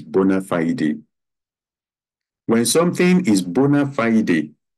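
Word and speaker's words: bona fide: matter of bonafide relationship some people will pronounce it Bonafide but actually it is bona fiday when something is bona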